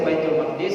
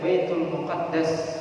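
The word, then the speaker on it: بيت المقدس: Boleh dibaca Baitul Maqdis, Baitul Maqdis mimnya fathah, dalnya kasrah, Maqdis, atau Baitul Muqaddas, Muqaddas mimnya dhammah dan dalnya fathah, ya, dengan tasydid.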